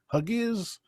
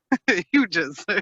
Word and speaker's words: Hughes: you pronounce it huge huges like chris shoes because it sounds like i'm saying chris shoes you know chris shoes